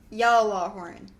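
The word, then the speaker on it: Gjallarhorn: Yeah, so it's a Yalar horn. Okay. I spent the time to learn how to pronounce it correctly, because it's spelled in a fun Norwegian way. Mm-hmm. There's a G in there. And a J.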